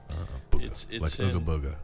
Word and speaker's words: Buga: It's B U G A Booga. Well, they call it Booga because it's named after a town in western Colombia.